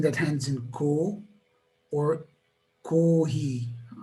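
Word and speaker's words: コーヒー: ends in ko or kohi? How do you differentiate the pronunciation, the intonation? Also, kohi, I would say it's a flat intonation. Kohi. Okay. Most of the foreign words have flat intonation.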